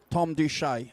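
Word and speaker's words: Thom Doucette: Is that how you pronounce the harmonica player? Beautifully done. Tom Duche.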